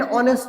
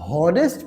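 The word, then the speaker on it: honest: तो my father is एन ऑनेस्ट मैन या अ ऑनेस्ट मैन। अब बच्चों देखो, इसको यदि आप हॉनेस्ट पढ़ रहे हो तो आपका प्रोनाउंसिएशन गलत है। इसे हम पढ़ते क्या है, इसे ऑनेस्ट पढ़ते ओ।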